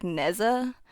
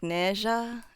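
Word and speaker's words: Nezha: If you ever saw a character named like you'll probably pronounce it like Neza, N-E-Z-H-A, but it's more like Neja, ja.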